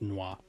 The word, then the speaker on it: N'wah: Something tells me that the original intention was that it was supposed to be pronounced nwah. Like suet and falah.